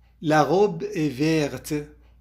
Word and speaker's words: verte: La robe est verte. حطينا لكلمة verte فأصبحت تلفظ الت، فنقول la robe est verte.